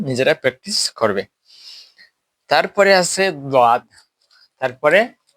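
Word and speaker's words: ضاد: এই দাদ শব্দটি, দাঁড়াও, এই দাদ শব্দটিকে নিয়ে বাংলাদেশে অনেক আলিম উলামারা মতানৈক্য করেন যে এটাকে দাদ না পড়ে জাদ পড়ে ফেলেন, একটা অক্ষরকে এটার বিপরীত করে ফেলেন উচ্চারণের সময়, দাদকে জাদ বলেন।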